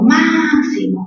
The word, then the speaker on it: máximo: Por ejemplo, máximo, mayor fuerza en ma. Última, mo. Penúltima, si. Antepenúltima, ma.